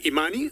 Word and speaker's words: Imani: So choose between Imani, that's the first one, how we pronounce it, and the second one is Jasiri.